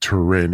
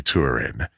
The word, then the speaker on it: Turin: It was my seventh grade teacher who pronounced it Tin. It's actually Turin.